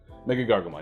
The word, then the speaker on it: MegaGargomon: how you say it they say we're good mega gargamon yeah i said makkah because the memory gain